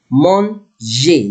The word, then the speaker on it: manger: The letter R, before it, if I have lettre E and come in the end, I will pronounce it like in English A. Manger.